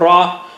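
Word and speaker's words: راء: Touch the tip of the tongue to the upper gums above the roots of the teeth. Almost same spot like lam and noon.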